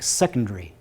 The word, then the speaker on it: secondary: by a vowel, but we would pronounce the word secondary with stress on the first syllable.